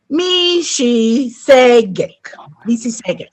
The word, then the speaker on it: Mississauga: And I know I failed a bit on that pronunciation, so I'll try it again. Mississauga. There, I think that's a little better.